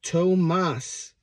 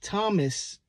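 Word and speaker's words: Tomás: screwed up a lot it's Tomas Tomas not Thomas Tomas can uh can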